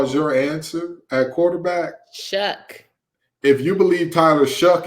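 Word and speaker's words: Shough: right Tyler Shaw is there Tyler Shaw there shuck it's pronounced shuck is shuck oh yes it's slated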